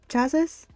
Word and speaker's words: chassis: The last S is actually silent? What? So, Cassie? Was that the, chassis?